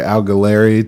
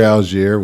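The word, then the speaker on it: Allgeier: baby from a guy that went from tyler al galeri to tiger out tyler algiere we we finally figured out how to say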